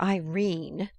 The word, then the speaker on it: Irene: "My daughter Irene," said Mrs. Carstyle, she made it rhyme with tureen, "has had no social advantages, but if Mr.